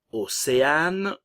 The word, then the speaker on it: Océane: Ensuite, Océane, le E final ne se prononce pas, et Romane.